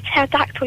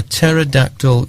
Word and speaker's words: pterodactyl: can't you hear a pterodactyl using the bathroom why can't you hear a pterodactyl using the bathroom I don't know because the p is silent that's a brilliant joke